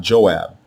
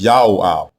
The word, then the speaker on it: Joab: prefix diminutive form, but the way you pronounce it is not Joab. It is Yaoab, Yaoab.